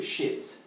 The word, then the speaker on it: shit: Vamos analisar primeiro shit. First, let's analyze it. Shit. Então, aqui no final, eu tenho a pronúncia de it. Então, fica shit, it.